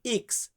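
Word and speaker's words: ics: যে কারণে এটাকে আমরা অনেক ক্ষেত্রে দাব ভি উচ্চারণ করি এরপর আছে কি এক্স আমরা এক্স বলি এটাকে আমরা ইতালিতে বলি ইক্স ইফসিলন ইফসিলন মানে হচ্ছে ওয়াই ওয়াই কে আমরা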